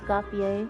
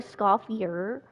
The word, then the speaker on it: Escoffier: Just a Scopier. Like you at first think it's like a scafier, but it's not. The R is silent, so it's fier.